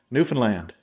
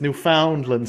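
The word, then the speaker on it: Newfoundland: the uh want to pronounce the province new land correctly New Finland New Finland none of this New Foundland stuff and New Finland and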